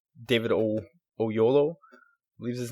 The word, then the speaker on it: Oyelowo: Like, the voice of Fulcrum really did sound like David Oyelowo, I believe is his name. Oyelowo? It's hard to pronounce.